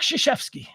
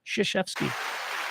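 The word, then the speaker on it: Krzyzewski: all time coach Mike shashy not spelled anything like it's pronounced uh Duke basketball I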